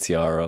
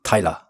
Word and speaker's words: Taira: But I have been called Tiara a lot.